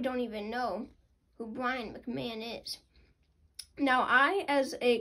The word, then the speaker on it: McMahon: uh of course it's spelled like mcmahon but it's mcmahon and even you know